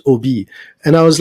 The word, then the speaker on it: Obey: But so because I think on your website it you you you actually wrote it's pronounced OB.